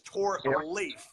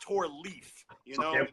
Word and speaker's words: Torleif: People butcher my name all the time because it's got L-E-I-F, and we're trained to think, oh, well, that means leaf. And also, we're also trained to think like I before E, except after C, except mine is E-I, and that is pronounced a hard A sound. So my name is Torleif, not Torleaf, but I let it slide.